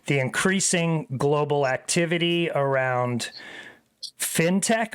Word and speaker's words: fintech: increasing Global activity around fintech or fine Tech I think I've been saying it wrong Marie it's fine Tech right Finance technology right I always say fintech like shark fin all right so Finch